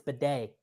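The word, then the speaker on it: Badie: It's not Tyler Beatty anymore. He told the team it's Bidet. Like a bidet?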